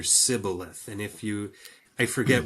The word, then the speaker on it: Shibboleth: No, it's the name of a river, and there was one, and one group of people pronounced it Shibboleth, and the other Sibboleth.